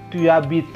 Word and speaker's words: tu habites: Tu habites ya, jangan tu habites tapi tu habites. J'habite, bacanya itu nyambung gitu. Tu habites. Ini juga sama, e-nya samar-samar, s di ujungnya tidak dibunyikan, akhirannya memang es ya.